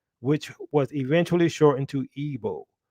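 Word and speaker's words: Igbo: was eventually shortened to evo that g is at times silent according to evo scholars and authorities arie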